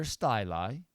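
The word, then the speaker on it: styli: tbls balanced tone arms better styly yes that's how you say it and so on these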